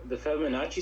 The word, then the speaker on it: Fibonacci: So is that, have you ever heard of like the Fibonacci sequence?